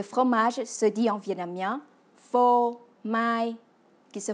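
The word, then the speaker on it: phô mai: se dit en vietnamien faux maille qui se prononce faux maille et vous voyez on retrouve la même sonorité que le mot français fromage répétons encore voix fo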